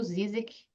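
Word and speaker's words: Žižek: e regg Lacan zizek eu falo zizek eu sei que tem outras maneiras né que pessoas pronunciam mas bem-vindo ao projeto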